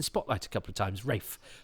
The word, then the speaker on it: Ralph: had a teacher who we thought was called Ralph but he pronounced it Rafe it's the same spelling it's Rafe fins isn't